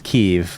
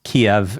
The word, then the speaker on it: Kyiv: The biggest one you're referencing is Kyiv, which is traditionally pronounced Kiev in Russian.